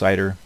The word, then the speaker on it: CIDR: So this aggregation process, what you'll hear it referred to a lot of times as classless inter-domain routing, or CIDR, CIDR, pronounced CIDR.